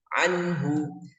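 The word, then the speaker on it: عنه: bertemu dengan huruf haah jadi cara bacanya jelas tidak boleh didengungkan contoh salahnya seperti ini anuu atau anu itu tidak boleh harus jelas dan tidak didengungkan Anhu Anhu Anhu jadi langsung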